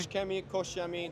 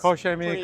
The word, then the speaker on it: Koch Chemie: Do I pronounce it correctly? Koch Chemie, that's Koch Chemie, pretty good, or KCX if you want to keep it simple.